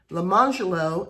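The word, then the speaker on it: Lemonjello: is spelled orange jello, but they pronounced it lamangelo and orangelo.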